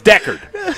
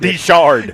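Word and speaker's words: Decherd: So, it's Decard. Decker. Decard. It is Decard. Not Dard. No, it's not Dishard.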